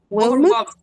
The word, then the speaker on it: overwhelmed: Overwhelmed. Not. No. No. Overwhelmed. The E is silent. It's not even weak sound. No. E style overwhelmed as if I have MG without E.